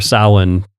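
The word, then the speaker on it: Samhain: you know where Halloween would be uh or Salin uh which is spelled s-a-i -am no s-a-m-h-a-i-n-n um because it's Gaelic and not not English and Gaelic like French they don't like to pronounce all the letters in a word just throw a few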